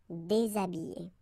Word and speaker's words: déshabillé: Okay, so you can see that here, this H here, this letter is not pronounced. So habillé and then déshabillé.